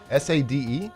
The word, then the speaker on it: Sade: S-A-D-E?